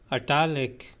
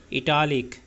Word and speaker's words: italic: Next हमारा word है अटालिक। अटालिक अटालिक। अटालिक यहां पर लक टा अटालिक अटालिक पहले से हम पढ़ते जिस तरह हम भी पढ़ते आए हैं इटालिक इटालिक नहीं यहां पे